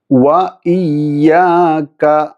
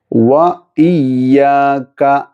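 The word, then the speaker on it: وَإِيَّاكَ: ശേഷം വ ഇയ്യാക. ഇവിടെ വാവ് ഉച്ചരിക്കുമ്പോൾ ശ്രദ്ധിക്കുക. രണ്ട് ചുണ്ട് വൃത്താകൃതിയിലായി നടു ഒഴിവായി കൊണ്ട് വേണം ഉച്ചരിക്കാൻ. വാവ് വാവ് വ വ ഇയ്യാക. ഇയ്യാക നമ്മൾ ആദ്യം ചർച്ച ചെയ്തതുപോലെ തന്നെ ഉച്ചരിക്കുക. സെയിം പദമാണല്ലോ. വ ഇയ്യാക വ ഇയ്യാക വ ഇയ്യാക നസ്തഈൻ നസ്.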